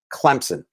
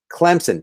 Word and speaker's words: Clemson: running back combination from clemson i know there's no p but you pronounce it it's not silent it's just invisible clemson travis atien and trevor